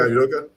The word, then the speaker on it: Udoka: Did I say his name right? Is it Udoka? Yeah, Udoka. Was he really a great coach?